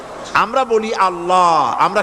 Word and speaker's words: আল্লাহ: এই উচ্চারণটা আমাদের অনেকের হয় না কেউ বলেন আল্লাহ আল্লাহ পাকের উচ্চারণটা হচ্ছে আল্লাহ পাকের নামের উচ্চারণ হচ্ছে আল্লাহ মুখটা একটু গোল্ড হয়ে যাবে বলেন আল্লাহ আল্লাহ সুবহানাল্লাহ পৃথিবীতে বিভিন্ন জাতি তার স্রষ্টাকে তারা